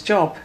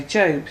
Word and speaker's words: Job: But the book opened up at Job, which I thought was Job. I thought that's how you pronounced it. Anyway, Job.